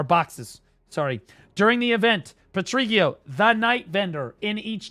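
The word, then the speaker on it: Patrigio: Patriio's special shop of secret bosses or boxes, sorry. During the event, Patriio, the night vendor in each town will have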